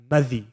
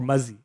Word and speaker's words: madhi: They call that madhi, or mazi, if you don't pronounce the dal.